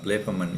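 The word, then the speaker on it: βλέπομεν: I usually pronounce this one be like blepomen, using the omicron here, because once it gets into the subjunctive forms, subjunctive expressing possibility, the omicron changes to omega, and I think it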